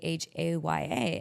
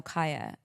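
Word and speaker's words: Chaya: and it was C H A Y A. And I said, "Oh, so Haya." And she's like, "No, Kaya." And because Kaya is a Hebrew name.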